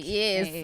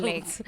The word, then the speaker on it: Blek: It's like the way, Blake. like the way it's spelled. Blake.